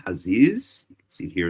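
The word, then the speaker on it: חזיז: That's how you say it in Hebrew, haziz.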